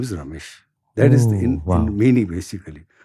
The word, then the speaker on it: Ramesh: He says, "Ramesh is 3 syllables. Ra, me, ish."